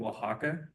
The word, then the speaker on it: Oaxaca: We're just going to focus on the state of Oaxaca. And it's kind of a weird word, but that is how you pronounce it, Oaxaca.